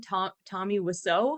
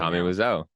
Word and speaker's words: Wiseau: How you pronounce his last name? Tommy Wiseau.